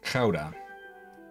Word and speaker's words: Gouda: I hope it's Gouda. It's labeled. I think I pronounced that wrong. Gouda. Just about. In Dutch, it's pronounced Gouda. Gouda.